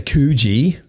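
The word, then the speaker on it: Coogee: and then we've got like you say koogi koogi I say kuji koogi tells me I say it wrong every time you do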